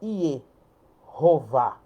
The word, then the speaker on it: Jeová: Então, olha para você ver, Jeová com a pronúncia aqui, ó, iová.